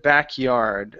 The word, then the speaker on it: backyard: the backyard yeah yeah so we want to stress the um behind the backyard so we're going to stress more of yard than back so instead of saying behind the backyard okay um less of a stress here so how are you saying this behind the backyard so you were pushing a little bit too much on yards so behind the backyard um yeah so so I would I would elongate back just a little bit